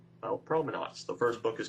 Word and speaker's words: Promenuats: It's Promenuats, Mike.